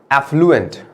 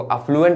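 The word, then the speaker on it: affluent: Next is एफ्लुएंट, कई लोग उसको अफ्लुएंट भी बोलेंगे, अलग अलग कंट्री, अलग अलग प्रोनाउंसिएशन, तो मैं बहुत ज्यादा प्रोनाउंसिएशन में ध्यान देता हूँ।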